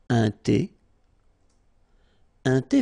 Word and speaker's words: thé: Remember, H is not pronounced.